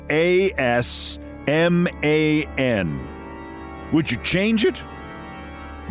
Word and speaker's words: Asman: But I mean, if your name was A-S-M-A-N, would you change it? I know he pronounces it Asman, but good grief, it looks like Assman.